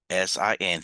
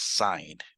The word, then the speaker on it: sin: let me just call s i n Theta I'm still going to call it s I'm not going to read it as Sin it is still pronounced sign okay s of theta